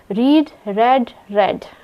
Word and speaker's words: read: जो रीड है यह वर्ब रीड की जो स्पेलिंग है वह सिमिलर होती है तीनों फॉर्म में पर इसको प्रोनाउंस करते हैं रीड रेड रेड और जो है उसके